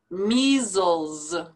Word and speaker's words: measles: your vegetables beneficial beneficial measles now these two s's both sound like a zed measles miscarriage miscarriage pedagogical pedagogical